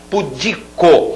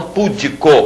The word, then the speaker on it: pudico: é a sílaba tônica pudico e não pudico como muita gente fala pudico barbaria barbaria aquele ria